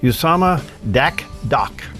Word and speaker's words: Dakdok: But we have with us today Usama Dakdok.